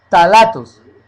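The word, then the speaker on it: ftalatos: o sea el esmalte los tatos se coloca una F pero no se pronuncia los tatos de dialquil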